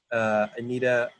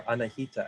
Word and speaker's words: Anahita: Breakout group 3 is the venerable Anita Molai, or Anahita actually is how you say it, Danielle Verghese, Grant, the Jerka, Jillian Cooper, Katie, and Kara Paul.